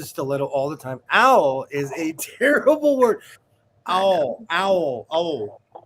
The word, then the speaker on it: awl: Not owl as all. But not all. Yeah. As in ALL. You gotta say it like a Southern person. Owl. Yeah. Yeah. You gotta put that W in there.